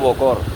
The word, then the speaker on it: বকর: তার ধার্মিক গান নাই, বক্কর ভাই, বক্করের ডাকদ, এইভাবে বলে, অথচ নাম হইল বকর । একটা ক থাকে, তারা যখন বলে ওই নামটা উচ্চারণ করে বকর।